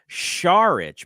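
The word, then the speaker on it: Šarić: to fit in right I think we watched uh sarich or as ion eagle called him shich maybe that's I think that's how you pronounce it it is it is that's that's a little harder than like pronounce it sh kind of like shenon I I feel like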